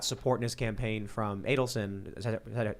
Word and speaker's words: Adelson: Sheldon Adelson, is that his name?